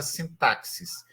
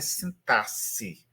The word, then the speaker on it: sintaxe: Nem a 40 anos se falava sintaxis. Só alguns remanescentes, né? Um pessoal assim muito antigão que falava sintaxis. Mas a boa pronúncia é sintasse, como se fosse 2 S aí nesse X.